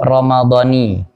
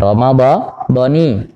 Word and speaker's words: Ramadhani: Bacanya yang paling tepat itu Ramadhani. Nah, Ramadhani. Nah, nawaitu sauma ghadin an adai fardhi syahri Ramadhani atau fardhi Ramadhani.